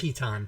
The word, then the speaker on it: piton: I've never really been clear on the pronunciation of It that is word. piton. It's totally piton.